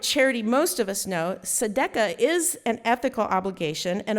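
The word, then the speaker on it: tzedakah: And Judaism has the practice of sedca which does not spell like the way it sounds because I had to write it down so I said it right.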